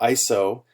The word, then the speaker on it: ISO: international organization for standardization or iso as its acronym is pronounced iso has a technical